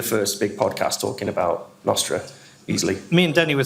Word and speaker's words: Nostr: little vested interest in in Nostra not Star as it should be pronounced um was that me